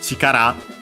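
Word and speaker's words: 力: Then we have kimino, so your chikara. Don't think we have a studied this kanji but we have found it before at least in other I think also this one. Chikara accented on the last syllable means force or strength.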